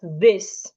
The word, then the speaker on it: this: I have these and I have this. They aren't pronounced the same way.